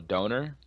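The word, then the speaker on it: doner: they have this thing called a donor it's spelled D o n e r just like it sounds um you can get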